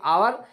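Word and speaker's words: hour: हर जगह H silent नहीं होता है। खाल खाल देखिए आप, ये दो अल्फाज याद रखें, एक आवर, एक ऑनेस्ट मैन, इसके अलावा आपको बहुत कम मिलेंगे।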